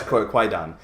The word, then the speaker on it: Kwaidan: Oh, it's not a Q. Yeah. I was thinking like Qui-Gon Jinn. Oh, Qui-Gon, yeah. It's Kwaidan.